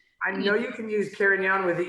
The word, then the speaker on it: Carignan: you have to say Carignan? You have to say there's Carignan and Carignana, I believe, are both there, but I use the Spanish pronunciation because that's who I am.